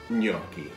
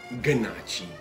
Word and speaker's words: gnocchi: everybody again so today we're gonna be making gnocchi and this is yoki ok it's pronounced new yorky not good nachi please don't ever say good not cheap don't